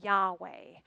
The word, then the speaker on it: Yahweh: in the Hebrew Bible they speculated that the yah is the quiet sound that we make as we inhale and that the way is the soft refrain that we answer as we exhale isn't that beautiful breathing